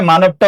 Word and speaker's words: মানব: মানবটা উচ্চারণে কি হবে? মানব। মানব। মানব। মধ্যবর্ণের অচ্চারণে ও হইছে আগের বর্ণে আকার আছে।